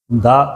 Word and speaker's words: the: ద అనే దానికి 2 సౌండ్స్లో మనం 2 రకాలుగా పలుకుతాం. ది అలాగే ద. ద అనేది ఎప్పుడు పీనుకుంటామంటే నెక్స్ట్ వచ్చేటువంటి వర్డ్ కాన్స్టెంట్ సౌండ్ అయితే ద అనేది ఉపయోగిస్తాం.